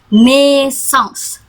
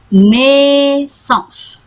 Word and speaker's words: naissance: A ketemu I bacanya naissance. Karena dia S-nya 2 bacanya S, bukan Z tapi S, naissance.